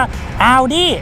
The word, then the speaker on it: Audi: โวย วาย บอก ว่า ต้อง อ่าน ว่า เอา ดิ เป็น แบรนด์ รถ ยนต์